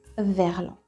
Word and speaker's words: verlan: So it becomes vers l'en. The S being silent. Remember, you don't need it. Vers l'en. For some reason, l'en with a E became lan with a A. Verlan.